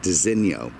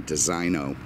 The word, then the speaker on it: designo: I pronounce it Designo. And I believe that is the correct pronunciation. I mean, it's essentially an Italian thing. And, you know, I just don't see the Italian saying Designo.